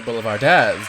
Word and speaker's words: Boulevardéz: We'll be right back with more with LaCienega Boulevardéz, darling. Accent on the Oh. E.